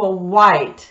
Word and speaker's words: white: В этих словах из двух букв W, W и H произносится только буква W, а H не произносится.